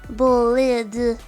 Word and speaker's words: Bolide: pronunciation just in case, apparently there are other pronunciations and other meanings. Apparently it's bolide in French. And some people say bolide as well.